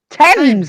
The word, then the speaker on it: Thames: Thames, and we've told you I don't know how many times.